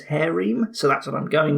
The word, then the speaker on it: Harem: seems to think that the British English pronunciation is hairy so that's what I'm